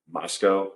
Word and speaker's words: Moscow: Departed in uh uh Moscow it's spelled like Moscow Idaho but it's mosco I think is how they pronounce it it was his bar